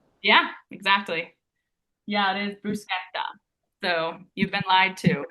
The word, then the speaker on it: bruschetta: So, you actually don't say it bruschetta. That is not the Italian way to pronounce it.